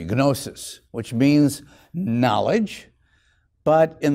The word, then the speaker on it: gnosis: There you can use the hard G, gnosis, which means knowledge.